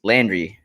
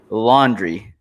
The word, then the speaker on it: Landry: noticed uh is that juliana pena cannot pronounce landry correctly as she continues laundry the entire time she goes wow laundry